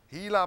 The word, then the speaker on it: Gila: thing going for it I pronounced it right see hila hila monster okay but it also